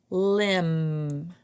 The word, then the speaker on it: limb: And limb. And this can be like a branch of a tree, or your arms or legs are also limbs. So it had a a silent B at the end.